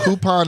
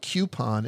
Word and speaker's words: coupon: do not say yes so coupon is heard in California Nevada Colorado Louisiana Mississippi Virginia Hawaii and much of the Northeast other than Maine and New York but coupon is the rest of the United States don't spell it different